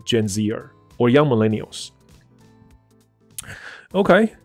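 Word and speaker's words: Gen Zer: 所以我从这里先看一下哈。So people in their twenties are often categorized as Gen Zers。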